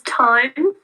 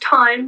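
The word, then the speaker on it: Thyme: your new puppy so my puppy's name is time for anyone who doesn't know um but it's felt like the herb so t-h-y-m-e um and it's pronounced time not time oh no have you had that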